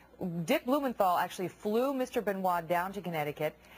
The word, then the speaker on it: Benoit: Chris Benoit, I was pronouncing that incorrectly earlier, killed his wife and his 7-year-old son before committing suicide in 2007.